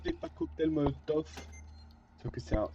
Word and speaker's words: Molotov: Ceux qui me diront que c'est cocktail Molotov, c'est pas enfin cocktail Molotov et pas cocktail Molotov. Sauf que c'est un S, du coup. Donc les V se prononcent F en russe.